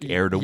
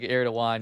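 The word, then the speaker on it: Erdoğan: And then the G with the the kind of thing on it is like a a W or like like Erdogan. It's like it's like it's like Erdogan.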